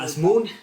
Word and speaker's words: Azmoun: Asmoon? Sardar Asmoon? This is if healthy, so he might not be healthy, but What's his name? Asmoon. Azmoun.